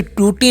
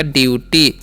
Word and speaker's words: duty: Next word है हमारा DUTY, तो इसे टूटी नहीं पढ़ना है, क्या पढ़ना है, डी का उच्चारण ड करना है और यू का उच्चारण यू, तो हो गया ड्यू। किसे हम क्या पढ़ेंगे, ड्यू, और TY का टी, तो हो गया ड्यूटी। तो इसे हम क्या पढ़ते हैं, ड्यूटी।